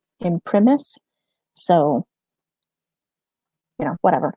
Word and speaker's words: in primis: this right here so depending on the pronunciation that you're used it's either in Primus or in primis I use a Latin pronunciation that's a classical which would be it in premise so you know whatever